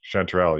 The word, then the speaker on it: chanterelle: must be the English name how do you pronounce it yeah that's right you got it perfect chanterelle yeah okay yeah this is my whole family